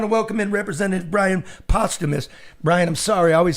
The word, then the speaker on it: Posthumus: welcome in Representative Bryan Posthumus. Bryan, I'm sorry. I always said, pronounce it, dude. Posthumus. Posthumus. There you go. Because his dad was... Like Dumas. I always said posthumous.